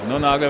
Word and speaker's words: Nonaga: Non Naga wird es ausgesprochen? Non Naga wird es ausgesprochen.